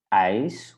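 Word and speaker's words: ijs: Ice, we had this one, ice, right? So it's the I. So when you burn your finger, you say I, and that's how you pronounce the letter combination.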